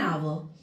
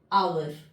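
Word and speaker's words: hour: एन आवर। क्यों बच्चा? इसलिए लिखते हैं। अब अब उच्चारण करिए। Start doing pronunciation आवर आवर बड़ा आ निकल रहा है।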